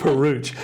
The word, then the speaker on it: Peruch: who played young Dooley, Luke Peruch, it rhymes with pooch is what they do with Peruch.